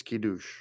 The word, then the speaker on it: Kiddush: Looks like Kadosh, but it's Kiddush.